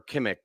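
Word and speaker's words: Kimock: Um, Essie, it's John Kimmock or Kimmick, or I've always Kimmock. pronounced Kimmock. Kimmock.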